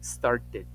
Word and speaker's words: started: una t completamente Okay cuando termine con una t como Start por ejemplo empezar Start se su pasado es con Ed y digo started Si termina con p le pongo una Ed Si suena la ID dices started si termina con d como